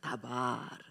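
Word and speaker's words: דָּבָר: 다바르. 자, 다바르. 다바르라고 하는 단어입니다. 다자는 기억자 딱 꺾어진 그런요 다 디귿자 발음이 납니다.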